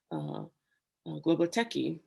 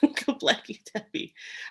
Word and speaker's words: Göbekli Tepe: which is close to another archaeological dig called Globoteki. Globotepe. I keep saying it wrong, Göbekli Tepe, which is actually in southern Turkey, the Syria area, the border between Turkey.